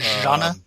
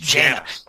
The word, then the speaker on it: Jaina: Jana? J-A and then H. Jaina.